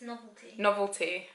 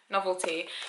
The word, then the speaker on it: Noveltea: I think it's Noveltea. Noveltea.